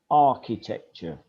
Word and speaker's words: architecture: a student i study architecture even though it's spelch it's you say architecture silent h silent h you're an architect and